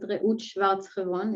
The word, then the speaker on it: Reut Schwartz-Hebron: Or as you beautifully pronounce it, Reut Schwartz-Hebron it's not common.